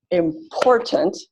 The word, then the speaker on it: important: for it important and I clap it out to figure out the stress maze important so the still the stress is on the second syllable I need to choose